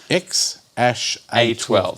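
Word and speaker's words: X Æ A-12: how to pronounce it it is X - a 12 X ash a 12 so it's written x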